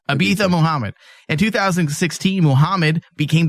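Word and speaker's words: Ibtihaj: Ibitha Muhammad.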